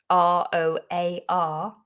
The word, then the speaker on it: roar: It looks like it might be roar because it's got R-O-A-R in the spelling of it, but we pronounce it with a long vowel, or, roar. It's exactly the same as the word raw, like meat that hasn't